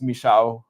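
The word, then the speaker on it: Michał: It's Michael in in uh in America, but I'm I'm assuming it's Misha. The L with the slash. It's like a W, right?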